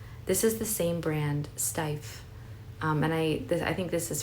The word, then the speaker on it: Steiff: This is, I think the brand is pronounced Steiff, but it's a very like vintage brand.